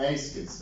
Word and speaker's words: Eyskens: Eyskens Yeah, Eyskens, that's how you pronounce it.